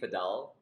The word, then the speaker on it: padel: do you pronounce it is it pedal or padel yeah so it's actually padal but uh it depends on where you are in the world I think South Africa sort of a pedal word um yeah it's